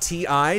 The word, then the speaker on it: Ti: The TI moniker on the high-end NVIDIA cards is pronounced TI. Depending on who you ask, most of the people confirmed that in chat.